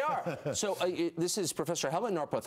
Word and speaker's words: Helmut Norpoth: So this is Professor Helmut Norpoth. I don't even know if I'm pronouncing correctly. I want to spell his name. Helmut Norpoth. Perfect.